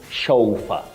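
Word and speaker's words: chauffeur: something wrong but now this word we have heard chafua mhm you hear of chofa chaa and so many other pronunciations even in serious communication but bet this word for the driver of an important person you say chaua a chaua it's a word that is from French when you talk of matter of etimology so it's from French you say chaa chaa not chaa not cha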